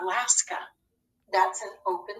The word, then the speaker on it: Alaska: alaska when you have a in an open syllable at the beginning of a word or at the end of a word it doesn't have the expected long a sound it says more of an uh alaska that's an open syllable